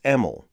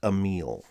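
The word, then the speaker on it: Emil: honoring her father's work she also politely told me that i was saying his name wrong i couldn't change that but i can do better here so i want to be clear it's emel not a meal geographically defining the mogollon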